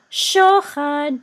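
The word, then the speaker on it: שֹׁחַד: So this is shochad, because remember the whatever the trope mark is over, that's the accented syllable.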